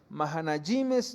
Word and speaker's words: Mahanaim: cuando nosotros vamos aquí encontramos más a nayim el cómo se pronuncia en hebreo y el significado de